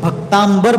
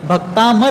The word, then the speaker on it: भक्तामर: नाम लेते समय भी बहुत से लोग भक्तांबर बोलते हैं क्या बोलते हैं भक्तांबर बोलते हैं इस स्तोत्र का नाम भक्तांबर नहीं है भक्तामर है क्या है भक्तामर तो